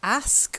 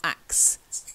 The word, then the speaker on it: ask: brain reads that but it's ask or ask not axe ask or ask try it ah that's better good